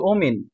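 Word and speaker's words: women: Okay, ২ number, O মিন, constitute half of দ্য total population. মহিলারা, মহিলাগণ কি, এখানে হচ্ছে ওমিন, ই দিছে, এটা উচ্চারণ হচ্ছে ওমিন, constitute half of দা total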